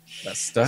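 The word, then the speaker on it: Leicester: be in leester UK I believe pronounced leester so yeah if you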